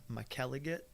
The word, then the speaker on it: McElligott: or how do you what do you think name or the way to say the name is Mike elegant elegant if you're over in Ireland or Scotland that's how they're gonna pronounce it okay but just kind